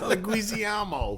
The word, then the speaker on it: Leguizamo: It's phonetic. It's Leguizamo. You added 6 eyes.